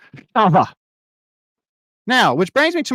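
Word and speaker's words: חוה: won't teach you that Eve is pronounced in Hebrew Chava now which brings me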